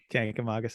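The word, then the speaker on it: Kancamagus: Kankamagas Highway. Yeah. Yeah, that's the correct way to say it.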